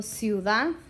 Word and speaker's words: ciudad: For example, ciudad. The weak I clings to the weak u, and it makes one syllable and one sound.